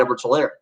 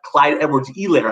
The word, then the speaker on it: Edwards-Helaire: on your format, and Clyde Edwards-Helaire, or Clyde Edwards-Helaire, I believe, is how the age is silent. How you're supposed to pronounce that.